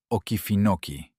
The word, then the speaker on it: Okefenokee: Bienvenidos a Waycross, Georgia, un pueblo somnoliento entre pinos en el borde del pantano Okefenokee, pronunciado Okefenokee.